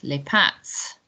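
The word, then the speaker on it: les pâtes: passed on you know there's an s on the end there we don't pronounce that s very important les pat la mousse or chocolate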